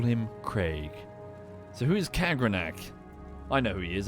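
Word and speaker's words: Kagrenac: Kagranek. Is that how you say it? Hang on, what did it say in the book? What did I read it as? Construct Kagranak. No, it's Kagranak.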